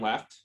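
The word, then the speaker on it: Lefebvre: b v r e generally you don't pronounce the b though it would be le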